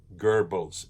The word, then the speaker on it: Goebbels: Joseph Goebbels is the pronunciation of it.